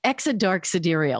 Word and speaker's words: Exa Dark Sidereal: Exodark sidereal. Exodark sidereal. So in other words, when she's on the playground, the other kids would have to go, hey, do you want to play with us? Exodark sidereal.